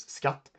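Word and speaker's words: skatt: before a hard vowel it's just sk like uh for example tax in Swedish is scut which also means treasure it's kind of an oxymoron uh but uh tax and treasure in Swedish is scut sk a tt uh But at the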